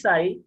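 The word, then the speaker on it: psi: तो wave function जो है वो साई है। नाम क्या वेव फंक्शन का? साई। पी साइलेंट है, साई बोलते हैं।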